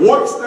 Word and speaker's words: Worcester: Everything superintendent said, but when he said Worcester, I was locked in.